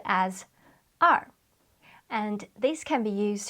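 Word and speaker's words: 二: their floor level number two in Chinese is pronounced as r and this can be used to describe when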